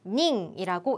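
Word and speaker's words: 人: 인자를 써 주시고 얘는 링이라고 읽을 거예요 숫자에 붙은 사람 인자는 히토라 읽지 않고 닝이라고 읽습니다 몇 명에 해당하는 는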